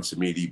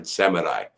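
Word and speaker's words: Samedi: in the in the some people say baron samidi but it's barren seminai and that's the guy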